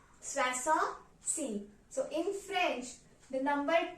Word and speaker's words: soixante-six: So 66 is pronounced as soixante-six, soixante-six.